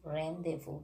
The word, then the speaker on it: rendezvous: is actually the french word the word is rendezvous the very nice word what is the meaning